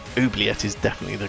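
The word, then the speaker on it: oubliette: on uh it's oet it's a French word oet is definitely the correct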